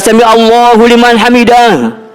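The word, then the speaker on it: سَمِعَ اللّٰهُ لِمَنْ حَمِدَهُ: Habis ruku i'tidal itu bacanya sami'allahu liman hamidah. Tuh, beda.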